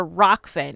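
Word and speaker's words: Rokfin: really scared to yeah so he mentions a rock finn it's he he didn't say it right but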